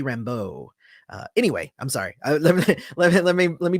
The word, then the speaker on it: Rambeau: I mean, Monica Rambeau, I guess, is what they're saying, but it should be Rambeau.